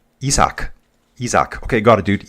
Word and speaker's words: Isaac: Note, in Spanish, Mexican, yeah, Isaac is pronounced Isaac.